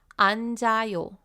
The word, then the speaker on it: 앉아요: After adding ayo to the end, it becomes 앉아요, 앉아요. Also, remember that with 4-character words, if they're followed by a vowel, then all 4 characters will get pronounced.